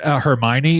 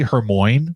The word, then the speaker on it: Hermione: We called Hermione Hermon for a long time. Okay. I didn't know how to pronounce that.